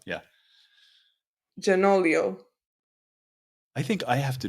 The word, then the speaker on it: Gianoglio: uh our Our Guest today it's uh janoglio and I hope I'm saying his name right